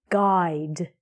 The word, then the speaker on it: guide: Because we have this pattern, the U is silent. So it's going to sound like guide.